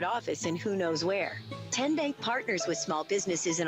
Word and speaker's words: TN Bank: Chancellor in Anderson County how do you say the name TN Bank nope tin bank uh-uh so what is it 10 Bank 10 as in Tennessee right here where all